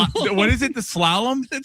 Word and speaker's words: slalom: Not shalom. I believe that's a religious term. It is slalom.